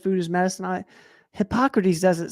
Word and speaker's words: Hippocrates: You could put those two side by side, and Are you pronouncing Hippocrates right? Is it Hippocrates? It's Hippocrates.